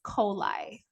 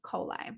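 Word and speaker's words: Coeli: is the imam coli how you pronounce that is coli coli so you'll see that sometimes where it says imam i am um c-o-e-l-i you're like how do you pronounce it it's coli so imam coli the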